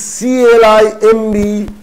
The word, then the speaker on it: climb: The actual spelling is C-L-I-M-B. And how should it pronounce? Pretend that B is not there. B is not there, so the word should be climb.